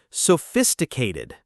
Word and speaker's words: sophisticated: Sophisticated. Sophisticated. Notice the stress on the second syllable and that ph makes an f sound.